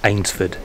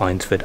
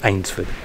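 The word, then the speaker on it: Eynsford: got our correction correct I'll pronounce that ainsford not einsford ainsford foreign I might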